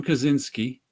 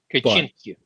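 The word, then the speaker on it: Kaczyński: It's good stuff, but Tom Kaczynski, once again, that's a name I only know how to pronounce. The American that's how we'd say it here. I don't know how you'd say that in Poland. Kaczynski.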